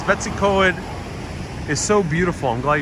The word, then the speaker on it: Betws-y-coed: Christy says, Betws-y-coed is so beautiful.